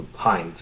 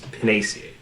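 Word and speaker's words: Pinus: So for so for pines for example, the genus for pines is penac. Most Americans say pine because p i n u s. But if you talk to a non-English-speaking European, well, not English is the first language. They're going to say penis.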